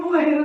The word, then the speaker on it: bueiro: Ou anuncia o bueiro na feira. Olha o bueiro, né? Então a sílaba que mais demorou foi o ei.